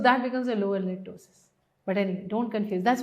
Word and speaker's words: ptosis: So it is not ptosis. Some people even call it this. So this is tossis I'm talking about. So p is silent here.